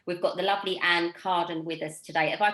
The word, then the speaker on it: Carden: today from anne we've got the lovely ann cardin with us today have i pronounced your name right anne you absolutely did